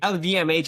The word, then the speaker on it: LVMH: You led at GE, Hasbro, Disney, LVMH. I always mispronounce it.